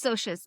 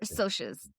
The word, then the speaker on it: Socs: Sorry, Soches. It is It's Soches. It's short for socials. Oh, Soches. Soches. So, they're Soches.